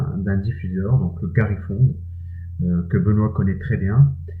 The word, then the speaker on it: Gary Fong: Alors, le nom, c'est Garifong, comme ça s'écrit.